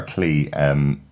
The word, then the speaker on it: Clea: Claire or Clee, people tend to have different pronunciations for her, but interesting to see her back.